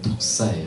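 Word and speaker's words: δόξα: 예수님 하나님을 영화롭게 했는데 이 영광이 헬라어로 독사예요. 독사. 뱀이 아니라 독사라는 그 헬라어 발음이 이렇게 돼요.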